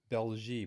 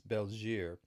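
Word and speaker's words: België: the bell here and i used to pronounce it bell G but it's not as bells year and that's this is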